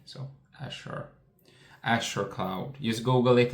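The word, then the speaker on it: Azure: 24% year-over-year amazing driven by Asha they call it's spelled a a cur e He said u so Ashure Ashure cloud just Google it and you will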